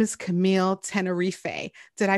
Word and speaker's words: Camille Tenerife: an extra special guest uh her name is camille tenerife did i pronounce that correctly you got it okay and